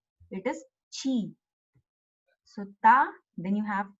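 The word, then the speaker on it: ち: It will not be ti. They don't have ti. Instead of ti there is chi. So this shape like a 5. It is chi.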